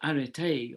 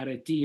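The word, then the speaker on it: ἀρετή: The Greek word arete, or arete in modern pronunciation, it means excellence, but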